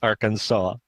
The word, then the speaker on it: Arkansas: They spelled it the same way, but apparently in French you pronounce it as Arkansas, and it's like, what?